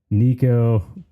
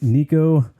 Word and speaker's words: Nico: I don't remember exactly when we first connected on the interwebs, but ever since then, I can pretty much count on Nico commenting, sending me a message, or all the above every time anything is posted or a new episode comes out.